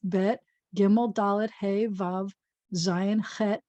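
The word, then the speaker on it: בית: And you'll notice it's not Aleph Bet Vet. It's just Aleph Bet, Gimel, Dalet, Hey, Vav, Zayin, Chet, Tet, Yud, Kaf.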